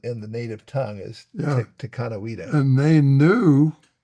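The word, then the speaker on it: Dekanawida: That sure sounds a lot like Daganawida. Well, the only difference is the T and the D sound, which we already know from King Dododa. Well, the T makes a D sound.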